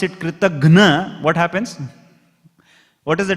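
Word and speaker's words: kṛtajña: So the word Kritagna, what is the word Kritagna? It is not Gya, Gna. Kritagna. That pronunciation itself is gone now.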